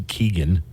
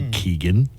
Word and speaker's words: Keoghan: I don't remember Barry Keoghan, or Keoghan, I guess is how you actually pronounce it.